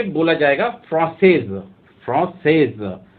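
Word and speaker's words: français: तो अगर कोई मेल अगर बोलता है कि मैं फ्रेंच हूँ, तो वो बोलेगा फ्रांसे, और अगर कोई महिला बोलेगी तो वो बोलेगी फ्रांसेज। तो ऐसे ही अगर कोई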